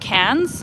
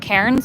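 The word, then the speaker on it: Cairns: I think you're pron you pronounce it cans not KS but cans right so yeah I went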